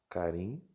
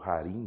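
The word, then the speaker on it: χάριν: Carim, anti. Anti significa sobre. Caritos. Vamos fazer também outro círculo aqui. Caritos. Aqui pode pronunciar tanto harim, né, ou carim, ou então caritos ou haritos.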